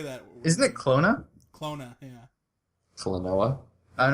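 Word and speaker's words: Klonoa: man how do you say that isn't it clona clona yeah noah i don't know where that second o came from it's k l o n o a a o n o a a yeah o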